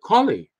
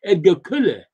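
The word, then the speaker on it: Edgar Colle: khalid's name is really edgar kuller it sounds more like killer than kali so i i was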